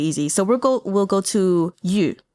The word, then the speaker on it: Yu: So it's not you, although if you need to pronounce it that way, that's perfectly fine. Just go ahead and say you and you. But Yu is going to be, just say ye, like ye, Y-E, and then form your